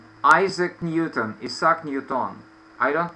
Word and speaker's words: Isaac Newton: we say affair and in English we say same word only the accent should be on the first syllable like cafe okay so